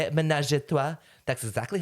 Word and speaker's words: ménage à trois: Ménage à trois.